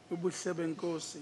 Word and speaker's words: Ubuhle Benkosi: If I may tell you, your pronunciation is perfect. It's amazing. Ubuhle benkosi. It's just as a Zulu-speaking person would call it out.